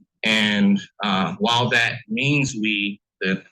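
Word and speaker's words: oui: u o UI and uh while that means we that it's pronounced we but the word means yes um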